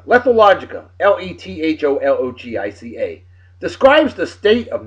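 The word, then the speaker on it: lethologica: uh La thought oh my God I can't pronounce it lethal logica lethalogica l-e-t-h-o-l-o-g-i-c-a describes the state of not being able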